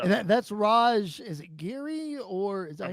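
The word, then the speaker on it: Giri: Is it Geary, or is that I how you believe pronounce his so. name? Okay. I, So I it's believe so. Raj Yeah. Geary.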